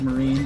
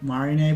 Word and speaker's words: Marine: Oh, it it marin is is supposed to be pronounced like marine like English. Feel like I've heard her say Marina, but maybe she doesn't know.